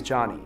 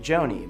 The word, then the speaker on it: Jony: For example, my name is Johnny, spelled Jony. And it's normal for someone to pronounce my name like Joni.